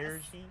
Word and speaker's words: Erzsi: Ergie Myers joining us. Good morning. How are you? Good morning. Did I say your name right? Yes. Ergie? Yes. I said earlier, how many people get your name wrong?